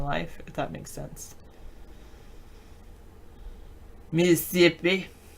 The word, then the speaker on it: Mississippi: Mississippi. You know, they only pronounce the first vowel.